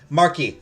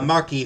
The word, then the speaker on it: marquis: it foreign okay yeah Marquee for French it's uh Marquee for French uh Marquis for uh for British that's it I Googled